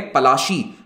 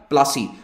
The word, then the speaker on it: पलाशी: तो ये है वो जगह पलाशी, पलाशी हिंदी में या बंगाली में कहते हैं, अंग्रेज इसको प्रोनाउंस नहीं कर पाते थे तो उन्होंने इसकी स्पेलिंग भी बदल दी, प्रोनाउंसिएशन भी बदल दिया, कर दिया प्लासी, जबकि ये हिंदी में कहलाता है पलाशी।